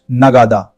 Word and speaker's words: नगाड़ा: Kettle drum in Hindi is नगाड़ा, pronounced नगादा.